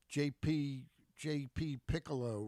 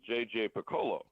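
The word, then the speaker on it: J.J. Picollo: a a freshman manager in Matt Cortaro uh JP J.P Piccolo right is that the GM it's actually uh well it's an uncommon pronunciation on the uh on the name it is JJ Piccolo Piccolo okay um tell me a list JJ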